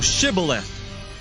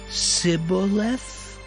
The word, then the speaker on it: Shibboleth: If he said, Nay, then said they unto him, Say now, Shibboleth. And he said, Sibboleth? For he could not frame to pronounce it right.